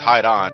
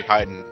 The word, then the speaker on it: Hidon: I do like this you think it's pronounced hide on it's actually hiding hiding it's a play on yeah it's a play on uh hiding like yeah exactly so